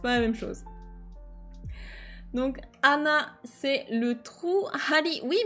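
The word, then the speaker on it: 穴: Oui, alors il y a Anna. Effectivement, Anna sans H. Hein, c'est pas Hana, la fleur ou le nez. Là, c'est bien Anna, c'est un trou. D'où l'importance de bien prononcer le H en japonais.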